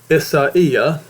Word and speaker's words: Isaiah: Isaiah, or Isaiah, which is correctly pronounced, the righteous perish and no man sets it to heart.